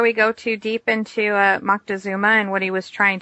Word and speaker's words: Moctezuma: and I'm not going to be able to pronounce his name, so hopefully you'll help us out. Yes, you are. Juan Lopez Moctezuma. Moctezuma, okay.